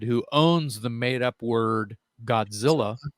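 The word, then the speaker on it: Gahdzilla: that on bandcamp okay godzilla is spelled g-a-h-d z-i-l-l-a still still says phonetically godzilla motor company but the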